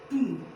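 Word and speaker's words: tomb: इसको ऐसे ही, यहाँ पर बी को नहीं बोलेंगे, बी साइलेंट रहता है।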